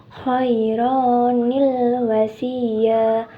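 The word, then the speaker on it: خَيْرًا الْوَصِيَّةُ: perhatikan ayat di atas cara membacanya yang tepat adalah dengan berbunyi kironil wasiah kironil wasiah jadi r-nya dibaca fathah ya teman-teman dan di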